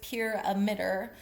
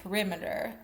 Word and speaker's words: PYRAMIDER: But there are two different ways that this can be pronounced. I'm going with pure emitter, but it could also be perimeter. It's p y r a m i d er. So again, I'm just going to pronounce it pure emitter.